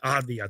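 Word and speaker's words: Avdija: I can't pronounce his last name, Denny Avia or whatever, from the Wizards. He had a really good season for the Wizards, by the way. Advia, thank you.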